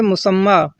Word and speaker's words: مسمہ: لوگ غلط پڑھتے ہیں، یعنی مسمی پڑھتے ہیں، یا پڑھتے ہیں اور یا پر جو کڑا زبر ہے اس کو نہیں پڑھتے ہیں، حالانکہ اس کا صحیح تلفظ ہے مسمہ، اور اس کا معنی